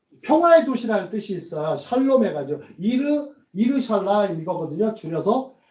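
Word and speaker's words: שלום: 뭐 샬롬을 발음을 잘하셔야 돼요. 살롬이 아니에요. 샬롬. 샬롬. 죽일놈이 아니고 샬롬.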